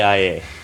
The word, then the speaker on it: Gaia: Gaea? Gaea? Or Gaea? Judges, can we accept that? I don't think he has to spell it. It's, Gaia, the Gaia hypothesis.